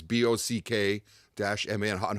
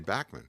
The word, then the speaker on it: Bachman: it was German uh-huh so he would say Bachman I mean he sent her press release he actually put in parentheses B Ock - ma hon how to pronounce my name but in Canada we say Backman mmm with all the